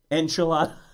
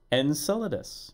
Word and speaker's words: Enceladus: They keep you hear about enchilada. It's the best way I can pronounce it.